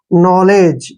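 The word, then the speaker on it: knowledge: गया एओ न ऐसे के एन ओ डब्लू यह हमारा हो गया नो क्योंकि इसमें के साइलेंट है और एल ई को हम क्या पढ़ेंगे ले ऐसे ले और डी जी ई को हमने क्या पढ़ना है ज क्योंकि जी से पहले अगर डी है तो डी साइलेंट रहेगा और जी को हमने ज पढ़ना है ये हो गया नॉलेज यहां से यहां तक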